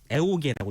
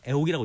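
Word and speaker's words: 애오개: 그러니까 아현이라고 쓰되 읽기는 애옥이라고 읽어야 하는 것이죠.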